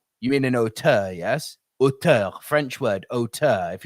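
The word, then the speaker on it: auteur: brilliant otter artist filmmaker and by the way for everyone in America please can we stop calling otter an old tour it's not t-o-u-r it's not right biggest pet peeves after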